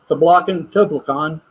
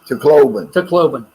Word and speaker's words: Tacloban: About 6 hours south of Toblacan. How do you say it? Tacloban.